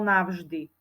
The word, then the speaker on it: navždy: je párová znelá spoluhláska ak za touto spoluhláskou v Nasleduje znelá párová vyslovujeme ju ako v napríklad slovo navždy za v máme napísanú